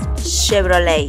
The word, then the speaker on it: Chevrolet: así la forma correcta de esta marca es chevrolet y no sigues diciendo photoshop así no se